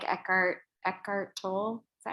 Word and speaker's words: Tolle: Someone asked, they said that they like Eckhart Tolle. Is that how you say his name? Tolle? Heard it pronounced both ways.